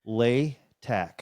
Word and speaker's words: Latack: Latack.